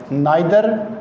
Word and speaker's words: neither: इसको नीदर नॉर ईदर और भी पढ़ सकते हैं। नाइदर नॉर आइदर और दोनों तरह से हम प्रोनाउंस कर सकते हैं।